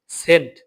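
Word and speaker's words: Cent: কিন্তু এটা আসলে ক্যান্ট না। এটা হচ্ছে সেন্ট।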